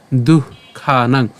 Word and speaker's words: দুঃখানাং: আমাদের বিসর্গ আছে আমাদের উষ্ণ ছাড়তে হবে সেজন্য উচ্চারণটা হবে কেমন দুঃখানাং এরপর হানির সিওপ এখন এই উচ্চারণটা আমরা এভাবে